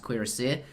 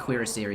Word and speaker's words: cuirassier: I believe it's pronounced cuirassier, and every time I shorten it, it's not so good. I need to perhaps pronounce it incorrectly or use the full pronunciation every time. So. I always pronounce it cuirassier. Yeah. But maybe that's probably maybe something I should aim to do, but I think cuirassier is closer. In French.